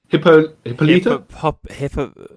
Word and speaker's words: Hippolyta: I by the way, this how do you pronounce Wonder Woman's mom's name? Hippolyta. Yeah, Hippolyta.